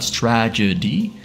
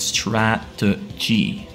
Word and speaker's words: strategy: in strategy Strat Str it's hard to pronounce strategy strategy not stragedy but strategy that's it went for